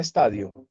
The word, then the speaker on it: estadío: Él los llama estadios, así como se escribe la palabra estadio, ¿cierto? Pero se se pronuncia en este caso estadio.